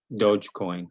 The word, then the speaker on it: Dogecoin: Dogecoin.